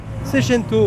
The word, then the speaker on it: Seicento: Est-ce que je prononce bien une Seicento? Seicento, ouais.